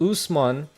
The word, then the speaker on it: Usman: It's pronounced Usman, like goose, without the G, and Mon, like Pokemon.